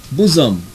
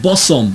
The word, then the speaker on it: bosom: Tina was like move bosom bosom not boss on my bosom friend bosom busan BOS um the bosom of Abraham not boss on bosom and there you have